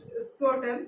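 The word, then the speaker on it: scrotum: उसे कहा जाता है स्क्रोटम, मींस एस साइलेंट रहता है, क्रोटम या स्क्रोटम आप दोनों में से कुछ भी बोल सकते हैं ऐसे.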